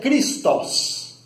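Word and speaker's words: Χριστός: O termo ungido, na língua grega, se pronuncia Christos, daí que vem o nome Jesus Cristo.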